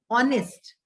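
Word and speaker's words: honest: के साइलेंट होता है ऑनेस्ट हम नेस्ट नहीं बोलते हम ऑनेस्ट बोलते हैं तो एच साइलेंट टॉक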